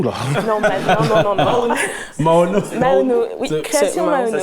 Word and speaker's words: Maono: Maono. Maono. Oui. Création Maono. Ça s'écrit commento.